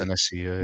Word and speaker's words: Senesi: Senesi, right? That's his name. How you pronounce it? Senesi, Yeah.